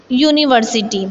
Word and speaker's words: university: The spelling is starting with a vowel, but the pronunciation is consonant sound. So university.